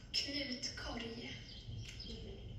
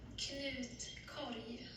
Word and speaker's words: Knutkorg: Knutkorg. Thank you. Did anybody here know that? Yep, no. Yes, no? So that's From the other- French? No, that's the Swedish. That's the real pronunciation for the basket.